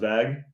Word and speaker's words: VAGUH: So yeah, it's pronounced VAGuh.